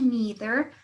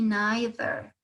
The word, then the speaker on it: neither: Esta frase, esta palabrita neither, ustedes la van a escuchar ya sea en la pronunciación americana como me neither o en la británica como me neither. ¿Sí? Si se pronuncia de cualquiera de las dos formas, está correcto.